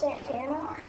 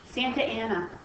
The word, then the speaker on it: Santa Anna: isn't it pronounced Santana? Santa Ana.